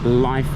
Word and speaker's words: LYF: Now this is Life Hotel, L-Y-F. I would pronounce that Lif. I presume it's pronounced Life.